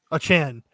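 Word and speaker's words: Achane: You know, if I was gonna put money on one of these awards right now, how'd you say it's pronounced, David? Devon Achan? Achan.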